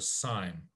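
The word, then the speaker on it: cyme: special word for this this is called a sign c y m e and so um we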